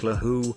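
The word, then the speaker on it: laxoox: Laxo ox pronounced lahoo is one of the rare foods that is widely shared between Djibouti and its neighbors Ethiopia and Somalia.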